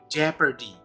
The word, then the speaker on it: jeopardy: Kayak ini, Jeopardy, Jeopardy, bukan Jeopardy. Seringkali mengucapkan Jeopardy, keliru. Tapi Jeopardy, see?